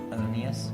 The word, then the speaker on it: Adonías: So, how do you say it, Adonijah in Spanish? Adonías. Adonias.